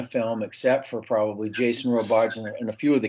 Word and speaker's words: Robards: of my favorite actorss did you call him Robards I think yeah I probably mispronounced his name okay I just wanted to make sure it's Robards Rob very anglicized yeah great actor great